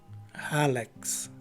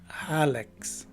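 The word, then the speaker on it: hallux: And the letter U is a swas sounding letter U. And lastly, the letter X at the end of the word takes the usual KS sound. So the right way to say this word is Halex.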